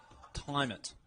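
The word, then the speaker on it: TIMIT: It is spelled T I M I T. Time it.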